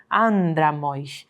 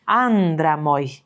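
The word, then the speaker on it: ἄνδρα μοι: Então, andramoi, andramoi. Esse an aqui de início, ele vai ser mais longo do que o restante das sílabas desse trechinho.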